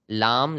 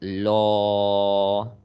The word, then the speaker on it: Allah: Normally we learned it la, right? Yes. But here we are going to pronounce that heavy, like law. Okay, you have to check that if the previous letter has fatha, then the la in the word of Allah is going to be heavy, like law.